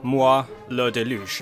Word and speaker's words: moi le déluge: talk about it so this is a player moi le déluge I think is how you pronounce it I took one year French I